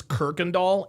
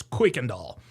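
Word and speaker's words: Kuykendall: And by the way, a lot of people pronounce this Kirkundall. It's not pronounced Kirkandall, it's Quickandall.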